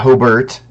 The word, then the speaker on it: Hobart: more got Hobart you got Hobart that's how you properly pronounce it Penn portage you know